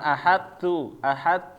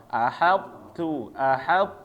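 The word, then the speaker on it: أحطت: Jangan ahadtu, ya. Kalau di riwayat Imam Hafiz tetap harus dibaca ya to-nya sifatnya ahaltu. Sekali lagi, ahaltu.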